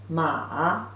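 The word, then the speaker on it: 马: is the simplified version horse pronunciation is the third tone ma horse horse can be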